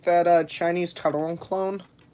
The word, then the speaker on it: Taron: Yeah, so fun fact, Taron, most people say it Taron. That is not the correct pronunciation.